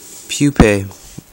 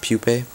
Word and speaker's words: pupae: And then when this mealworm keeps eating and eating, it turns into a pupae. And a pupae, people say pupa, but it's pronounced pupae.